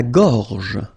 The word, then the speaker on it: gorge: La gorge. La gorge. Okay, remember when you get this combination G and O, you get the sound go, go. Okay, so gorge, and then G and E gives J. La gorge.